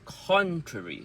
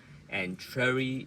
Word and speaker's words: contrary: And the next one is contrary. So con is stressed and longer, Contrary is softer and quicker.